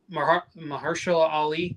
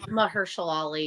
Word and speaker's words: Mahershala Ali: And even like Mahershala Ali, I think is how you say his name. Mahershala Ali, yeah.